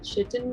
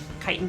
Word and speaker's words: chitin: Nah, she's just taken out her, I'm gonna mispronounce this, chitin blade? Chitin blade, yeah. Titan blade, there we go.